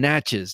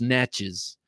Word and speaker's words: Natchez: Now I'm saying Natchez now because someone, excuse me, helpfully told me how to say it. I've been saying Natchez and that is sounding like a total yank, trying to not sound like a yank, I guess, but it's Natchez.